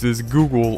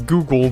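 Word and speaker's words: Googol: It was still pronounced as Google, but it was spelled as if it was named Google.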